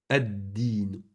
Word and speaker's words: الدين: Ad-din. Ad-din. الدين الدين. Ici, on ne prononce Oh.